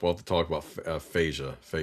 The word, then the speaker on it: FASA: We'll have to talk about Phasia. I think the fans usually pronounce it FASA, but it is an acronym, so it's really open.